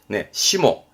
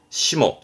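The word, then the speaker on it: 霜: 대표적으로는 상해라고 서리 피해 소가이, 소가이였습니다만 훈독은 시모, 시모 챙기시면 되세요. 다음 요것 때문에 발음은 무, 그죠?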